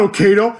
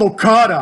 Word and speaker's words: Okada: And this smart beard, immediately he was like, oh, his name's not Okado, it's spelled Okada.